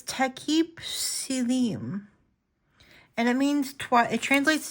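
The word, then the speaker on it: Takip Silim: Tekip Slim, but it's Tekip Silim.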